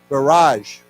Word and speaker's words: barrage: so let's say together barrage now this is pronounced with a J sound you know it's like a French word I think barrage okay so he they